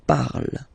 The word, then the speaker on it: parle: ending e, and then the way to pronounce it is je parle, parle. So remember, we put it, okay, but then we don't really pronounce it. Je parle, okay?